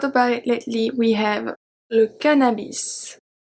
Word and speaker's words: cannabis: We have le cannabis. Le cannabis.